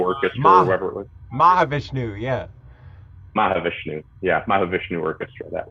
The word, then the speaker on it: Mahavishnu: Mahavishnu, yeah.